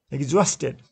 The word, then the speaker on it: exhausted: Exhausted. Second syllable is stressed.